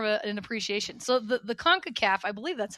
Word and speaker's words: CONCACAF: So the CONCACAF, I believe that's how you say it. It CONCACAF, is.